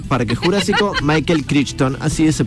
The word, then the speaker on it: Crichton: una novela programar para que el jurásico michael crichton así se pronuncia no sabía que muchos de nosotros con